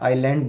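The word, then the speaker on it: island: आप यहाँ पर एक चीज़ और देख सकते हैं, मैं जब बोल रहा हूँ स्पेलिंग हमारी IS है, लेकिन S को हम साइलेंट रखते हैं, आइलैंड बोलते हैं।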